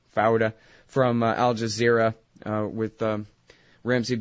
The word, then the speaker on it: Fouda: to Yosef Fouda from, I'm saying it wrong, Fouda, from Al Jazeera with Ramzi bin al-Sheikh.